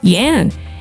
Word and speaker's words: Jan: Jan until I explain it's pronounced Yan, and he's a 6'7" bloke.